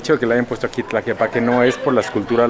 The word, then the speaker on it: Tlaquepaque: Amigos, si ustedes no están viendo este video con subtítulos, Tlaquepaque en realidad se pronunciaría así, Tlaquepaque, digamos, es dicho desde el inglés hacia el idioma náhuatl, Tlaquepaque así sería.